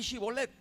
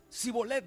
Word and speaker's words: Shibolet: A ver, di Shibolet. Sibolet, decían ellos.